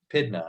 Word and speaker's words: Pydna: Empire conquered Greece at the Battle of Pydna. I believe that's how you pronounce that.